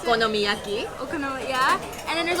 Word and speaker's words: okonomiyaki: Okonomiyaki.